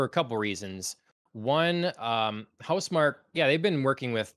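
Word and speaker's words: Housemarque: uh the returnal developer house mark i believe is how you say it i don't think it's house marquee nope okay um so yeah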